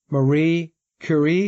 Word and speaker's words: Marie Curie: And the newsletter kicks off with Marie Curie. Is that how we pronounce her name?